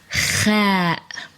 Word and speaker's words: خ: It's Khaa.